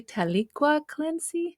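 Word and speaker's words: Taliqua Clancy: journey and her partner journey I hope I pronounced this correctly tala clany yeah yeah perfect as we get to learn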